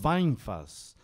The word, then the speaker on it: Vainfas: E a pronúncia toda, mas a pronúncia é essa mesmo, Weinfass, de vinho, significa barril de vinho.